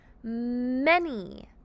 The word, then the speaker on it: many: let's practice many together remember that a still says e and that y says e in many read many sound many